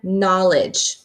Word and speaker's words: knowledge: then the same with the word knowledge hey I'm seeing a pattern now I don't hear the sound kN I only hear the N for knowledge and then